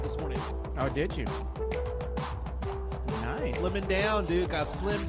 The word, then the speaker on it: Nice: Nice.